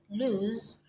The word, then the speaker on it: lose: is that this word lose the s in lose makes the z sound whereas the s in